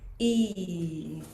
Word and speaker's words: Yi: Okay, so the sound for our sixth soul house is E. So, it's spelled like a Y I, but it's pronounced like a double E sound.